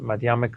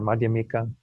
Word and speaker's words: Madhyamika: And Madhyamika or Madhyamika, some people pronounce it one way, some the other.